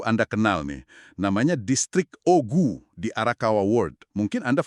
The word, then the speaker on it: Ogu: Namanya Distrik Ogu di Arakawa World. Mungkin Anda familiar sama stasiun Jroku ya. Tapi itu beda pengucapannya OKU OKU. Lokasinya di kita World. Nah, yang ini ogu dan ceritanya itu wah unik banget.